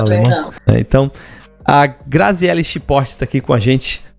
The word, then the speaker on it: Schiphorst: Para não esquecer, eu escrevi como se lê mesmo, Chiportes. Botei um botei um X e portes mesmo para poder pronunciar.